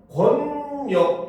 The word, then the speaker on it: 권력: 그냥 권력 이렇게 쓰면 발음은 유마가 일어나서 권력이 됩니다.